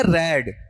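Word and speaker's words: read: हैज रेड या हैड रेड, मेरा उच्चारण सुनना, रीड पढ़ रहा हूं या रेड, रेड पढ़ रहा हूं, ठीक है। फिर अगला पार्ट लो, रीड तो फर्स्ट में होता है, सेकंड थर्ड में क्या होगा, रेड होगा।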